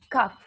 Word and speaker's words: cough: We say, we pronounce cough. Cold. Cough. G-H at the end is F, letter F.